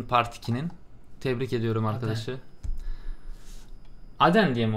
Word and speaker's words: Aden: Aden diye mi okunuyor? Evet, Aden diyor zaten.